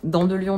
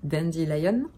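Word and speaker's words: Dandelion: pour dans de Lyon donc dans de Lyon n'est pas en termes français c'est Dendy lion que l'on prononce et cela signifie pissenlit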